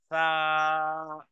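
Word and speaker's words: ف: আল ফাত্তা ফা হলো নিচের ঠোঁটের পেট সামনে উপরে দুই দাঁতের আগার সাথে লাগিয়ে ফা ফা নিচের ঠোঁটের পেট লাগবে কোথায় সামনের উপরে দাঁতের মাথার সাথে লাগাতে হবে তারপরে যখন বলবেন ফা সেটাই হবে আল ফাত্তা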